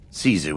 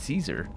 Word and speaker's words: Caesar: he would say kaiser in his vain attempt at pronouncing it properly in latin because you need to tap the rs and yeah that's that's